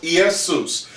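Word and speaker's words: Ἰησοῦς: cuz his name is in Greek is pronounced yesus yesus Yeshua is yesus or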